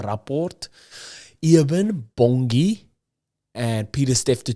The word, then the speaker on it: Rapport: According to South Africa's newspaper, The Rapport, you have to say it like that, The Rapport, Eben Bongi and Pieter-Steph du Toit are the shortlisted players to fill that captaincy void versus Wales.